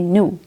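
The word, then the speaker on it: know: हिम ऑल डैड ही न्यू नो एंड के new1 के silent है जो भी वह जानता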